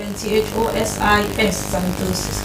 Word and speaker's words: xanthosis: Like xanthosis. When I say xanthosis, we start with C. It doesn't have a C. It starts with X.